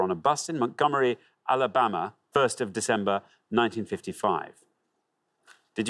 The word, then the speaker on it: Alabama: a white passenger on a bus in montgomery alabama first of december 1955.